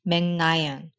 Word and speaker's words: Meg Ryan: That's what lets us finally decode why Meg Ryan is pronounced Megnayan. Korean's L at the beginning of her last name, Ryan, turned into N, Nayeon.